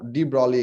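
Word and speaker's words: de Broglie: to the equation of d brauli equation the spelling is like this the g is silent the d value equation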